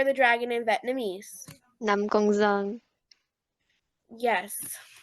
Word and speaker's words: Năm Con Giông: Năm Con Giông. Yes. Nam Gon Zong.